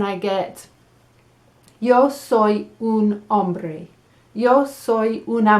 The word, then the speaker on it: hombre: pronunciacion it's a woman i'm going to write down mujer "moohair" right so i know how to say it okay so that's el